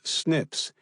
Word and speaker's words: SNPs: Gavllo's DNA test showed he had inherited one copy of each of the two atrial fibrillation SNPs, pronounced SNIPS, which stands for single nucleotide polymorphisms.